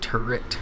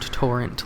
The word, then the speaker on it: Turret: I think that's how you say it, right? Turret, not torrent like I usually say.